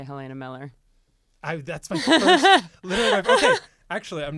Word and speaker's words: Mueller: be German like Mueller full on umlauts make it German uh that go by Miller so it is literally Miller okay it is Miller